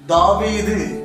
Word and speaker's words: தாவீது: For example பாருங்க, தாவீது ஒரு வாவு கீழே புள்ளி வருதுனால இது வி சவுண்ட் செயல்படுது. தமிழ்ல வி உச்சரிப்பு செயல்படுது.